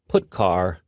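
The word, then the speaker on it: putchar: are the most popular they are pronounced printf putcar and puts each function is designed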